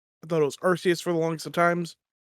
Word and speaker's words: Arceus: so we have all been playing pokemon's legends arceus i thought it was arceus for the longest of times devin devin learned